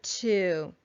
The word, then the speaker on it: two: unlike the other two it has a w in the middle t w o so it's spelled a little differently even though it sounds the same just like with our